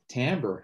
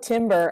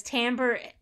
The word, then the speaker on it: timbre: myself i'm looking up timbre like i never pronounced that word correctly oh most people call it timber i know i've actually